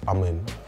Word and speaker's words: Aman: That's a Punjabi name. It's pronounced as Aman.